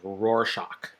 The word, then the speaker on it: Rorschach: So, the spelling looks a little weird, but the pronunciation is Rorschach.